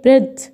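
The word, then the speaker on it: bread: طيب ولا هذه القاعده شواذ، فهنا اقول ايه؟ بريد. ما قلتليش بريد ليه؟ لا هو دي شواذ، واقول لك لكل قاعده شواذ. اقول بريد. ديد على طول.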